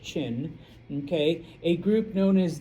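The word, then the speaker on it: Qin: Now there is one group and once again I know it's spelled with a Q and I apologize. It's pronounced Chin.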